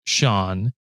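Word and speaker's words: Seán: Still have 200 episodes to go, but Sean means old and is pronounced Sean. And then SEA apostrophe, like over the A, N is correct. A fada is needed.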